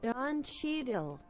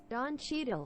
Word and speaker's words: Don Cheadle: I think Don Cheadle, John Cheadle. Help me out. Don Cheadle. There you go. There you go. Thank you very much. Don Cheadle.